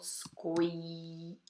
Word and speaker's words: scoiattolo: Olha a pronúncia dessa palavra. É difícil, tem um monte de vogal. Scoiattolo.